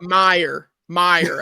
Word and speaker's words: Mayer: But the casual fans starting to notice him and pronounce his name wrong, which is a whole nother thing. But Mayer, everybody, not Yeah. Mayer.